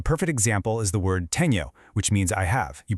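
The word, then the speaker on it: tenho: It's just like the nia sound in canyon. A perfect example is the word teno, which means I have. You pronounce it tenu.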